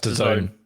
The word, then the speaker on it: DAZN: Big Bad Gary Doot and the UK's #1 Gary says a situation has occurred where Combat Sports Channel DAZN, is that how they say it? That's the zone.